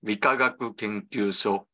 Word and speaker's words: Rikagaku Kenkyusho: So this is pronounced as Rikagaku Kenkyusho, and literally this means Physics and Chemistry Research Institute.